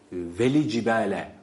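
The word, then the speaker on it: وَالْجِبَالَ: tabii Evet vel cibale vel cibale şeklinde yine hatalı okuyuşlar arasındadır bir Vav ve v değil ve şöyle okunuyor V cib cib vel cibele hareke vermiş oluyoruz böyle okursak ama halbuki burada lam sakindir lamı tarifin izharı vel cib vel cib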